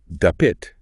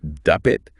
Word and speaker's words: dapit: So in Cebuano, you have dapit, which means invite, but then you have dapit with the stress on the second syllable, which means place.